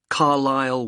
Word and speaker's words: Carlisle: and your address 45 Carlisle way could you spell Carlisle for me sorry it's c a r l i s l e you don't pronounce the S Carlisle way and that's